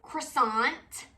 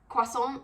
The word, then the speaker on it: croissant: Another one that's kind of similar is when people say croissant instead of croissant. I'm not saying you have to pronounce it exactly how a French person would, but croissant.